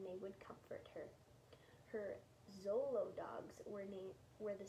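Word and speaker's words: Xolo: dogs are a breed it's spelled x-o-l-o i think you pronounce it zolo like it's with a zed but i'm not sure and they're also known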